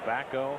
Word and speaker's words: Bako: off i just heard john eulet pronounce his name as backhoe so if we've been calling him baco all night is it wrong is it wrong to call a man baco when his name is bako hey some rock jock